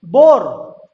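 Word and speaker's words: boar: Loan, ठीक, कैसे लिखेंगे, ऐसे, लोन, कहीं पर ए या आ का उच्चारण यहां पर नहीं है। बोर, ठीक, कैसे लिखेंगे, ऐसे लिखेंगे।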